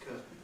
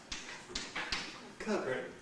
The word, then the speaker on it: curtain: I was saying it with a T nasally released into the end, curtain. But increasingly, people nowadays pronounce it curtain, curtain, curtain, curtain, with a glottal stop. Yes, they do it in American English too. The only difference in American English is the goes with retroflex, curtain.